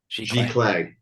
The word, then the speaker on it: giclée: How did you pronounce it? Giclée? Giclée.